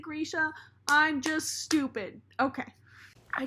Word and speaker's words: Grisha: wanted to do that or it's Grisha I don't know some people pronounce at different ways it's like potato photographer hi please don't come for me I know it's Grisha I know it's not potato potato I know it's Grisha I'm sorry I know Leigh bardugo pronounces it Grisha I'm just stupid okay